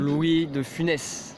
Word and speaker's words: Louis de Funès: Louis, because I don't pronounce this right, Louis Stephanie. You don't? Louis de Funès.